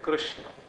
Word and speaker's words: कृष्ण: आप बोलते हैं कृष्ण तो क के उच्चारण में आपके कंठ में एक स्पंदन होगा क क क और री के उच्चारण में आपके सिर में एक स्पंदन होगा माने कृष्ण बोलते समय आप नीचे से ऊपर गए और वहां नान जो है मूर्धन्य श और ण दोनों मूर्धन्य है तो री ने तो